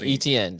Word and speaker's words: Etienne: Travis, how you say his name? Etienne? Etienne. That's how they say it. I know I was saying it wrong.